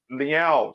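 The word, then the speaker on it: Leão: to pronounce it okay let me say Liao say like you're saying like a meow for a cat but that's by the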